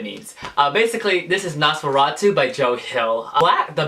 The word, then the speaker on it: NOS4A2: first i was like what how do you pronounce this uh i don't know i i so i i was like nas florentu hey nosferatu and then in the book they explain to